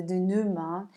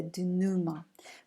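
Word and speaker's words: dénouement: the the notion the do Numa originates from the French language that is why we are not pronouncing the ending the letters EMTs never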